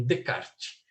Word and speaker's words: Descartes: O nome dele não se pronuncia os S's. Então, Descartes.